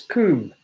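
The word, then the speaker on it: cwm: It's Coombe. Spelt C-W-M.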